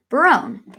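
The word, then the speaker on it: Berowne: room broom oh ok yeah I was correct Barone awesome cool ok Ferdinand of Navarre Barone longaville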